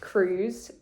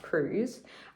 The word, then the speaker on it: Cruz: Um so yeah, it is pronounced Cruz. Um it's spelled C R I U Z, but it's pronounced Cruz.